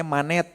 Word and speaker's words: Manet: Maka ada orang-orang nanti Akang Teteh bisa cari sejarahnya ada namanya manet. Dibacanya gimana ya? Mane monet sama Renoar. Renoar itu renoir ya nulisnya itu.